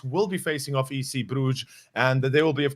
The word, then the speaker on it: Bruges: with that being said as you said it's bruges it's actually your pronunciation was actually on point i'm i'm kind of